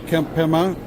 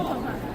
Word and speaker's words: Kempema: Sitting over here with Kempema. He's hanging out with me. It's awesome. How do you pronounce that last name? Kempema.